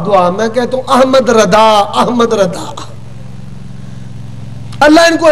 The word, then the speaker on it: رضا: نام ہے احمد رضا. کیا کہتے ہیں بھائی؟ رضا نہیں کہنا، دعا پر احمد الردا.